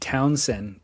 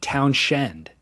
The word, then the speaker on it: Townshend: Is I said it's Pete Townsend in the Who. Yeah. It's actually even more complicated. It's spelled town and then Shend. So it's Pete Townshend.